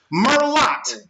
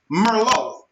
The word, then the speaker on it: Merlot: but we'll say it says sure yeah weapon Merlotte mm er L ot but it's pronounced Merlo right and when you it's pronounced with a